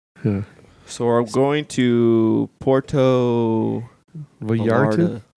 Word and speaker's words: Puerto Vallarta: So we're going to Puerto Vallarta. Puerto Vallarta. Puerto Vallarta. Say it right, son of a bitch. Puerto Vallarta.